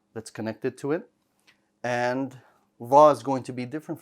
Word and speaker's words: ظ: This letter also requires you to use the tip of your tongue. And the tip of the tongue is going to extend to the bottom of the front 2 teeth.